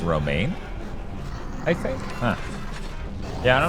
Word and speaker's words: Romijn: It's pronounced Romaine, I think. Huh. Yeah, I don't know. Oh, of course, it's a dead end. Fuck you, what? Apparently, it's pronounced Romaine.